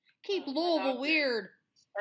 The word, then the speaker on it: Louisville: december 6th 1993 in our hometown of louisville not louisville or lewisville god i hate when people say that it's louisville louisville louisville that's that's how you say it guys yeah that's probably